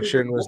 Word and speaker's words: Shinra: and he's just like put some respect on shinra's name please say his name his name is